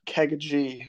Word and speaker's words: KeggaG: My, it was, it's, I guess you would call it Kegaji, was how I wanted it to be pronounced.